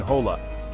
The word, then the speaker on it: hola: Remember, H's in Spanish are always silent, like in hola.